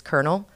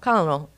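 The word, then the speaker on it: colonel: right but I remember the word I mispronounced and it was kernel have you ever seen that word spelled out it's col col colonal well I was very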